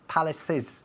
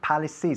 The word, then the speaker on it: palaces: Como acaba el sonido, es un sonido de S, aunque acaba realmente en CE, pero el sonido es S, hay que decir palaces, hay que pronunciar la ES al final. Palaces, como si fuese I latina S.